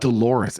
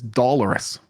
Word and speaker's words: dolorous: with his do doloris it's not Dolores it's dollarus what does dollarus even mean you're putting emphasis on the wrong cabable which is why I